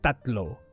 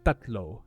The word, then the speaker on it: tatlo: some other languages the T sound is a bit more like a t like a D sound right for example in Filipino the number for three yeah in Tagalog is tatlo yeah tatlo it spelled with a t t a t l o however there is no breath when you say t orog yeah there's no breath um but if I